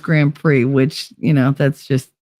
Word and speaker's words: Grand Prix: being hot cover what up that's how you spell it Grand pricks I know but it's pronounced Grand Prix which you know that's just unfortunate uh hide